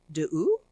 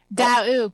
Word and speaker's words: D'Aoust: This is D'Aoust. Did I say it right? D'Aoust, pretty close. D'Aoust.